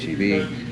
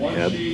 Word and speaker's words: HEB: I had a friend of mine actually pronounce it Heb once, and I was like, no, it's HEB. And they're like, what? I said, there's periods in there. It's an abbreviation.